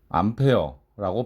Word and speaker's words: 암페어: 단위는 A라고 쓰되 여러분은 A라고 발음하시지 마시고 단위를 발음할 때는 바로 암페어라고 발음을 하셔야 합니다.